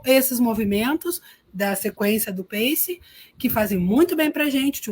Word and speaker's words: PACE: a gente chama de PACE, né? Mantivemos a pronúncia em inglês, que é um acrônimo para positivo, ativo, claro e energético.